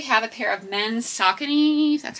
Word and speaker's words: Saucony: Okay, next we have a pair of men's Saucony, that's how you say it.